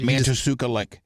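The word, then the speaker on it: Matanuska Lake: Yeah, I can't pronounce it. it's Mantasuka Lake.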